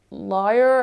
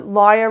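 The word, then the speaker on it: lire: get like 5 million liar I think it's pronounced yeah so this starts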